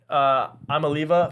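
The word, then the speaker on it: Iamaleava: Then the next few, you got Dylan Gabriel and Nico Amaliva.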